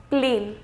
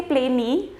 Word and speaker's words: plane: be very my note you're not going to say plane e we are not going to pronounce a completely it will have a tiny little effect as an independent alphabet but more so because it is extending the sound of the pre-existing wobble that was it same